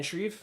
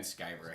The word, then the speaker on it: Sciver: Then there is Ethan Van Schreef. No, it's Ethan Van Sciver. I think that's how you pronounce it. I'm not too sure how you pronounce his last name. For the longest time, I kept saying Schreiber, but I think it's because I was just. Schreiber? It's not. It's Sciver.